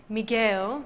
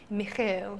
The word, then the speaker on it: Miguel: I just want to let Miguel know. He just let us know that we said his name wrong. It's Miguel and not Michael.